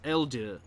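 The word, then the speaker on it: Eldeai: walker all right well it's supposed to be pronounced elder elder but i do not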